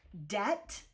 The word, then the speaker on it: debt: Also, we have another round of silent letters. So you have words like debt, ddebt, which is obviously not Anglo-Sax. That doesn't sound Anglo-Saxon. Um, and the B is thrown in to show you its connection to debut, a debutum, a Latin word.